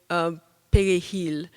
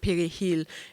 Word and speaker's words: perejil: to say the word perejil. And you could tell by the way I'm saying it that I would not have survived. The key to it is the way that you roll your R.